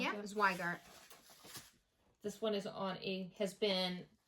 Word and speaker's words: Zweigart: I think I said it was a Zygot. Zweigot, however you pronounce it. Yeah, Zweigart.